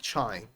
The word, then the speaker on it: trying: Trying, sometimes T and R together are heard as che, like trying.